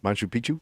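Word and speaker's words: Machu Picchu: t Manu picu how do you say that Manu Picchu thank you no but you are living isolated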